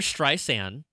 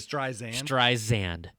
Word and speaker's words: Streisand: that Siri kept on pronouncing the middle of her name with a Z. So it would say Streisand instead of Streisand.